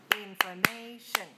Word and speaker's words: information: the next word is information inform information information information has four syllables how many uh which one is stressed information stressed on the third third syllables so information is stressed on a third syllable it's a noun and